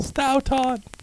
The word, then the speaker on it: Stoughton: I was thinking dough, stow. Stoughton. and Stoughton, by the way, not Stoughton.